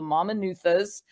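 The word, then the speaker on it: Mamanuca: which are called the mama nuthas and the asawas so again little little language lesson here so in Fijian the letter c is pronounced as a t h so it's the mama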